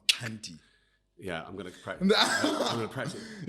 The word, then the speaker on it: Xhanti: correct pronunciation sure it's Cy yeah Cy so I always say to people it's like or at least for me it's a click on the left side of your mouth Cy yeah I'm going to